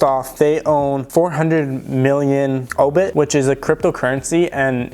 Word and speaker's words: Aubit: that so first off they own 400 million obit which is a cryptocurrency and if you guys haven't looked into obit uh it's spelled a-u-b-i-t i'll put a little bit of